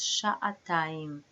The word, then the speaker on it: שעתיים: The double two for the feminine turns hey into tav. And what do we get? Sha'atayim. That's how we pronounce 2 hours. Sha'atayim.